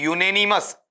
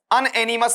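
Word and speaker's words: unanimous: इसका जो उच्चारण तुम्हें करना है इसे करना है यूनेनिमस, अनएनिमस नहीं करना है।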